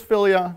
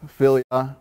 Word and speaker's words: philia: Pretty sure it's philia, might be mispronouncing that, but you had friendly love, right?